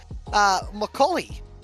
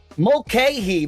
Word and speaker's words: Mulcahy: it looks like McCauley. Is that, you say his name, McCauley? Mulcahy, my good man. His name is Mulcahy, and that is correct.